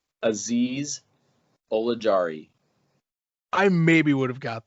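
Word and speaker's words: Azeez Ojulari: do not have faith whatsoever in this name aziz oligari i maybe would have got that maybe i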